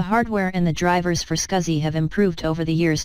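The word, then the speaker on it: SCSI: we will talk on small computer system interface scuzzy where the pronunciation is scuzzy scuzzy is additional peripheral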